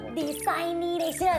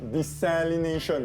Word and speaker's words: desalination: I'm glad you asked It's "seawater 'desailination'" -It's "desalination" -You got "seawater" right But it's read "desalination" She might not be right,